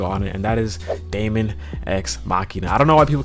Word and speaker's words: Daemon X Machina: ex machinae or machina I don't know why people that can't pronounce this game correctly but it's a man ex machina okay machina that's how you say the name of the game all right so we